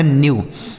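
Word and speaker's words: knew: आगे लिखा है के एन ई डब्ल्यू इसे पढ़ा जाएगा न्यू। के एन ई डब्ल्यू इसे पढ़ा जाएगा न्यू। न्यू का अर्थ हो गया जाना। न्यू मतलब जाना। देखिए यहां नो मतलब जानना और न्यू मतलब जाना।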